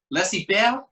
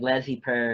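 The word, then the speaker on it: laissez-faire: How do you say it? Is laissez faire? Laissez faire? Yeah, because it's French.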